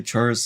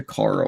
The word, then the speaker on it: Chara: say that name is Chara. It's Chara, right? Not Kara. Okay, if you want to tell me what the pronunciation, CH Chara or K Kara, and I'll just go off that.